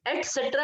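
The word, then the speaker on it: et cetera: etc डॉट इज नॉट the complete spelling. एटसेट्रा बोलते हैं बच्चों, हम क्या बोलते हैं इसको, एटसेट्रा। कैन you right the spelling in the chat box?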